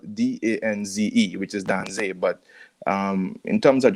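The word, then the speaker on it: Danze: music in general so this rhythm yes you pronounce it right that's a rhythm it's actually spelled d-a-n-z-e which is dan say but um in terms of just colloquial spelling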